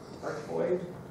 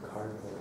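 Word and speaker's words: cardioid: Carboid? That's how you pronounce it. I was saying cardboard at first.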